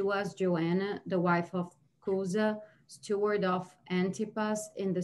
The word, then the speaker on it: Chuza: husband is, and so it's Chuza with a hard C, not C-H, Chuza, is that? I think that's how you pronounce it, yes.